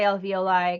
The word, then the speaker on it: alveoli: your bronchials your alveoli i say alveoli because it reminds me of ravioli so it makes it easier for me to say some people will pronounce it differently it's just one of